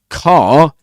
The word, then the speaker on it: car: Car is pronounced with a long open back vowel. O and no R is pronounced at the end in British English except in you know certain cases.